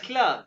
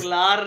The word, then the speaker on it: klar: क्यों भी आशिर आलस क्ला क्यों? या आलस अल्सक्ला। ये क्या ऐसे ही कहते हैं जो आलस क्ला, हाँ klar. ये हाँ जी आलस बिल्कुल। क्लार नहीं कहना। सर ये आर हाँ साइलेंट है।